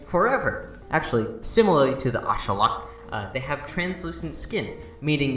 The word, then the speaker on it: axolotl: striking resemblance to the axolotl, which, yes, that's how you pronounce it. That's how you actually pronounce it, not axolotl.